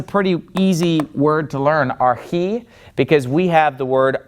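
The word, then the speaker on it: ἀρχῇ: Okay, so the accent is on the last syllable in this word archi.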